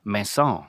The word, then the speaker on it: Maison: That's like Maison. It's French Mason or something.